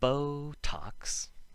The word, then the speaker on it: Botox: The ones I could think of for the first rule include protein, where we emphasize the first syllable but still make the T sound. Protein. And Botox.